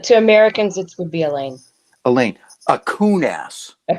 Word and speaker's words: Allain: correct correct correct i believe the pronunciation of your last name is elaine it is so if you're a